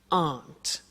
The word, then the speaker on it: aren't: they aren't cheap so the difficult here is the pronunciation of AR not which is Aunt okay Aunt good so